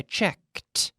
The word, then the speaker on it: checked: asked yesterday I asked now there's no extra syllable every day I asked yesterday I asked every day I check yesterday I checked yesterday I checked okay I need to hear that that T sound every day I look